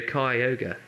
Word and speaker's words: Kyogre: out, yeah, so Kyogre. Yeah, but that's not phonetically. No. But still, though, he brought up the fact that it is ogre, so it's That's definitely Kyogre.